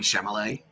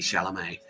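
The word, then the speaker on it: Chalamet: I've been saying Shamallay and it's actually Shalamé. Yeah. Okay. Yeah. Um it's the same sentence we gave Timothy Timothy Shalamé.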